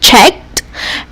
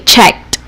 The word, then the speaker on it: checked: what you hear so when you say the word checked did you pronounce d or t okay checked try saying checked okay so it's clear that it is t so what you're going